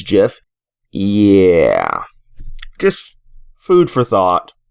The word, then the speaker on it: GIF: Which is like the peanut butter and is a joke. Choosy developers choose GIF.